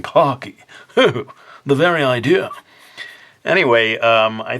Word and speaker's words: Pocky: people may be saying, how come you're not saying Pocky? You keep saying Pocky. Well, I'm using the Japanese pronunciation. And it does sort of look like it should be pronounced Pocky in English, but if the Japanese, when they write it out in katakana, it is Pocky.